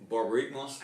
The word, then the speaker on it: Borborygmos: Then we have the original guy who's not enraged, and I still don't know how to pronounce it, so you're going to have to say it for me again. Borborygmos.